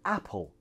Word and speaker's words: apple: However, in the word apple, the tongue shouldn't hit there. It should be a little bit more forward and hit somewhere here.